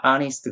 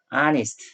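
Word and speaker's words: honest: 근데 그냥 소녀가 아니라 아니스 정직한 소녀 이렇게 되니까 is th 는 발음이 안 납니다 그럼 두번째 나는 오소리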